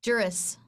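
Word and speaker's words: juris: she has a jury jur how do you pronounce it is that jurus or jury jurus jurus okay I have an English major you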